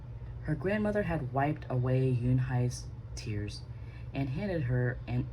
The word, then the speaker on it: Yunhai: "Yunhai," said Yunhai. "Yun-?" the girl asked, scrunching up her face. Ooh," some kids chanted. No, Yunhai corrected. "It's spelled U-N-H-E-I. It's pronounced Yunhai." "Oh, " the boy said.